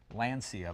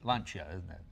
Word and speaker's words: Lancia: you get your own version of how it's pronounced like I've always said Lancia because it sounds an American but it's lunch yet lunch at lunch oh that's from what I